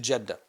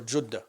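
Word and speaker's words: Jeddah: He flees to Jeda or Judah as as it's pronounced uh correctly.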